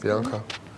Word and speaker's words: Bianca: Most people say my name right in here, which is Bianca.